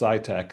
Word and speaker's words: SCITK: But it's SCITK, all caps, but it's pronounced SciTech.